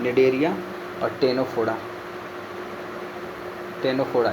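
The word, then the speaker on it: Ctenophora: टेनोफोडा इसका भी सी साइलेंट होता है।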